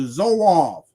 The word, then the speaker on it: Zouave: So what he's pronouncing is this word right here, the Zouave. The Zouave, he's putting a B in there.